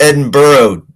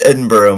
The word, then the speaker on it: Edinburgh: No, it's it's pronounced Edinburgh. It's pronounced Edinburgh, my friend.